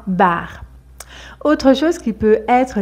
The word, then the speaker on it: bar: Alors que dans ce mot ici, bar, un bar, on le prononce mais très légèrement, un bar.